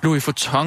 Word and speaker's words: Louis Vuitton: Hvordan udtaler man det? Louis Vuitton? Ja. Louis Vuitton? Louis Vuitton. Louis Vuitton? Louis Vuitton. Sådan siger Ulla.